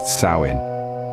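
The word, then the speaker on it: Samhain: Kelts observed a festival known as saman pronounced sawin samh was a time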